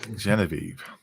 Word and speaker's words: Genevieve: So I shall move on and say, well done, Scruffy, but it's pronounced Genevieve. Genevieve.